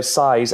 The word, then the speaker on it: Seis: So Size, S... You're not just mispronouncing the Spanish word for six. No, not that I'm aware of. I probably am. That's how it's spelled. No, it's Size, S-E-I-S, so as in seismic, so Size_matters.